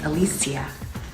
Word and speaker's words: Alicia: Tell me what your name is, and then tell me what people mispronounce it as. My name is Alicia.